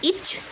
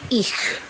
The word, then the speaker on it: ich: Dibaca KH, ya. Kita contoh katanya adalah ich. Jadi bukan ich, ya, tapi ich, ya.